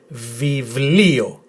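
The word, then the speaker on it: βιβλίο: So altogether, with the emphasis on this letter, viβλio, viβλio, viβλio, which means book.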